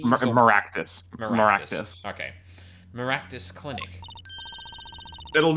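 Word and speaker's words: Meraktis: How am I pronouncing this? Maractes? Maractus.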